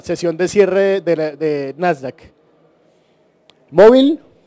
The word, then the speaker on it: MOVL: Móvil, así llama, se escribe así, MOVL, es un emprendimiento de